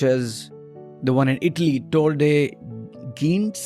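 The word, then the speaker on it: Tor des Géants: the one in Italy tode gin that's how they pronounce it 330 km with 24,000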